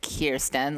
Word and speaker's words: Kierstyn: So pronounce like Kierstyn, like Queerston or Insecurestyn.